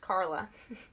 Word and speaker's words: Charla: way as yours, and she told me it is pronounced Carla, not Charla.